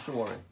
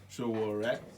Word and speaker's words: Sowore: How do you pronounce Sowore? Sowore.